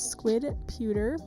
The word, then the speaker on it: squidputer: My gallery name is squidputer. I'm trying to get it changed. But it's squid, like it's spelled here, and then P-U-T-E-R, which is, again,